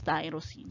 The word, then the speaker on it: tyrosine: y and it's tyrosine when you pronounce it it's not erosion it's tyrosine so y so it's